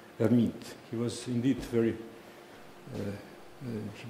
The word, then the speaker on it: Hermite: Hermite, after the great French mathematician Charles Hermite. But in French, H is not pronounced, so we call this gentleman Hermite.